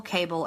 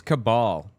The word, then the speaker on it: cabal: to take this Global cable of Satan worship cable she said it's cabal she can't even like pronounce